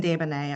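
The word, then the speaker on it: Desbonet: Yeah, it's Davana at Copley Wolf. And spell that please.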